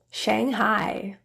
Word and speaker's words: Shanghai: I I trast I you will really only see this in a couple words that are spelled with AI so let's take a